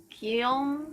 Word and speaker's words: Guillaume: Guillaume la Million. Guillaume? If it doesn't rhyme, you're not pronouncing it right.